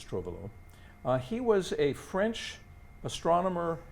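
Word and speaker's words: Trouvelot: this is etienne trovalo i i don't know if the proper pronunciation of the tea there but i think it's trovalo he was a french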